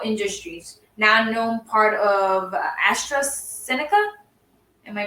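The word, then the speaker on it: AstraZeneca: imperial imperial chemical industries now known part of astra seneca am i pronouncing that right yeah yeah national breast cancer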